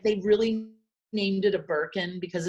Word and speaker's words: Birkin: like the name it's called a birkin it which rhymes with gherkin and merkin two things i know